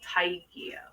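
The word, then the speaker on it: taegyo: So I looked up a little bit more about this South Korean culture surrounding pregnancy and I found this concept called Taikio. So it's spelled T A E G Y O.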